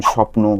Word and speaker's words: স্বপ্ন: যেমন স্বপ্ন, ধ্বনি এই শব্দগুলোর ব খেয়াল করলে দেখব এদের উচ্চারণ কিন্তু ব এর মত হয় না। এই ব এর উচ্চারণ স্বাধীনভাবে নেই। বরঞ্চ যেই বর্ণের সঙ্গে যুক্ত হয় তাকে দ্বিত্য উচ্চারণ করে।